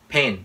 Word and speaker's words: pen: f flavor flavor laundry pen pen chứ không phải là b Pain pen light light